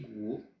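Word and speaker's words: 国: Zhong pour celui-là, première syllabe, premier caractère, et Guo, le pays, l'empire du milieu, la Chine.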